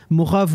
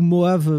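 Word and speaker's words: Mojave: a il y a morav ou moave parce que tu tu peux le prononcer avec un H aussi qui arrive tous les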